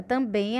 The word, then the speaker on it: também: Então, na palavra também, a sílaba de maior força, com maior intensidade, com maior som, é o bem, também.